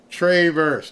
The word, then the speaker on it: Traverse: they pronounce the city it's not Traverse it's Travers tra Travers Michigan I I I stand corrected